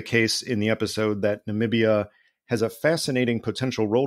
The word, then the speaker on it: Namibia: me ask you about namibia because namibia is a country that perhaps sadly got more attention in the last four years because of the former president's mispronunciation of it as nambia than for almost any